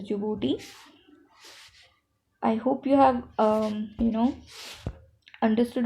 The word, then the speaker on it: Djibouti: D is silent, so it is Djibouti.